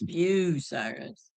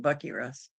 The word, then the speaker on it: Bucyrus: There's no R in Bu. It's not Burr. You don't see an R there. Or most people call it. A lot of people call it Bucky Russ.